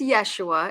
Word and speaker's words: Yeshua: I'm doing really well it is Yeshua it sounds like a y spelled with a J but uh they they